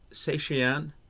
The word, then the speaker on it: Cetacean: to do the song I believe it's pronounced satyan by country John the